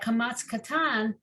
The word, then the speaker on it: kamatz katan: kamatzes that are different, and that kamatz katan, so it's the line, but it has a little dot under it, and they want us to pronounce it as O, not ah.